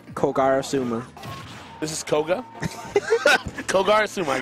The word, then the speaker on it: Kogarasuma: Just call me Koga. No, Kogarasuma. Not hard.